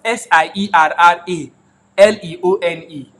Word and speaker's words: Sierra Leone: know it is spelled s-i-e-r-r-a l-e-o-n-e I don't know where I come to CD alone you need to you need to speak that right I think it's like Sierra Leone bro I know right